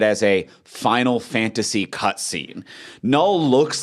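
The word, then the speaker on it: Knull: Is it Null or Canal? The K is silent, I assume? The K is silent. It's Null.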